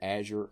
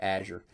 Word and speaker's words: Azure: Okay, by the way, that's how I pronounce that. You may pronounce it different. Azure, Azure, I've heard it pronounced Azure.